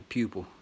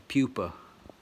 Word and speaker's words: pupa: that can get you the pupil the pupa is how you say it but yeah that's